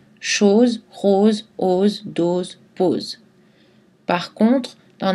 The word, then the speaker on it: os: Le S final ne se prononce pas dans le mot os au pluriel, par exemple des os, mais un os.